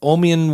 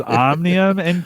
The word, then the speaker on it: Omnium: Jim's LinkedIn bio and you've mispronounced those two businesses ah there we go you didn't run it by me it was omnium well done right and